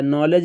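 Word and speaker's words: knowledge: है पढ़ा जाता है नॉलेज में के साइलेंट है यहां के नहीं पढ़ा जाता कैटल में कोई भी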